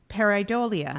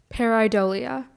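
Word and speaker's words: pareidolia: Your your word is paridolia. Um can you repeat the word paridolia?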